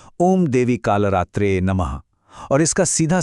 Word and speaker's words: ओम देवी कालरात्रे नमः: इसका उच्चारण है ओम देवी कालरात्रे नमः, और इसका सीधा सा मतलब है मैं मां